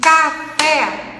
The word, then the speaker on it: café: Então, café. Quando a gente emite café, que tem 2 sílabas, é dissílaba. Qual que é a sílaba mais forte? Ó, café. Vamos falar 3 vezes a palavra. Café, café, café. Então, o fé é a sílaba tônica da palavra. É a sílaba mais forte. Então, ela é classificada como oxítona.